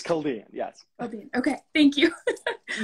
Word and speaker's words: Chaldean: Is that because I pronounced it poorly? Yeah, it's Chaldean.